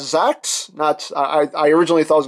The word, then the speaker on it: Zax: I've heard Japanese reviewers pronounce it as Zax. I originally thought it was going to be like G-Con Jax, you know, because we're